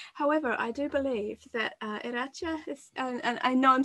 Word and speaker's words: Iratxe: However, I do believe that Iratxe is, and I know I'm still being very nervous about mispronouncing your name, and I hope that wasn't too bad, but are you good?